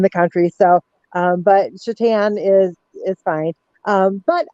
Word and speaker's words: Shetan: no eyes in there so I usually tell people to pronounce it she tan like she Tans at the beach um and that's just